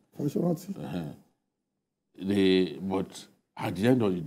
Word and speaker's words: Fasoranti: Just as every one of them cannot endorse the position of Baba Fasoranti, or how is his name pronounced? Fasoranti.